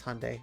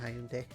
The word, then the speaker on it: Hyundai: Dodge Fiat Ford Honda sorry I pronounce it weird I know it's Hyundai but I always say Hyundai it's Hyundai jaguar and Lancia Land